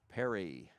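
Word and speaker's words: Perie: One ball in one strike to Alex Perry. Spelled P E R I E but spelled like or sounds like the Perry's we have here in Jackson.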